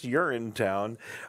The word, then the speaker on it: Urinetown: I wanted to make sure I was pronouncing it correctly when I first saw it. But yeah, it is Urinetown.